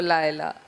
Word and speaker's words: Leila: How do you want me to pronounce it? You can pronounce it any way you like, but I say Laila.